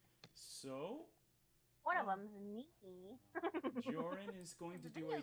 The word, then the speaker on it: Jorrun: i do my my name is joran rhymes with orr and ron which is what you